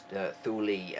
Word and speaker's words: Thule: Um and you pronounced it sort of right with the German the first time. I think you said thuli.